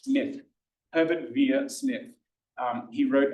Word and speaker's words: Smyth: Smith, that's not pronounced Smythe, it's Smith.